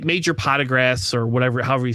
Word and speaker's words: Partagaz: Partagaz. Yeah, he's saying it correctly.